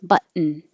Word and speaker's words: button: But these T's disappear because you're going to use a syllabic N, which has been my favorite thing this summer. Your tongue goes up for the T, but and then you make the N noise. Button, button.